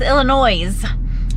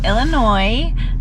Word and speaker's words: Illinois: i told him it's illinois the s is silent so now i get illinois because he's making it